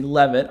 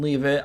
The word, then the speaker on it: Leavitt: I mean, Sam Leavitt, that's how you say it. You're supposed to say Leavitt. I called him Leavitt. I do apologize to Arizona State fans for calling him Leavitt. It's Leavitt.